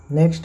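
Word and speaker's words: knock: हम न पढ़ते हैं के एन ओ सी के इसे हम नॉक कहते हैं के एन आई एफ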